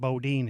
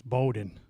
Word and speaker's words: Bowden: He pronounced it Bodin. It's Bowden.